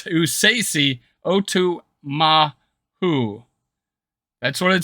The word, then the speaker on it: Esezi Otomewo: Now it's pronounced Esezi Otomewo. Sorry. It's Esezi Otomewo.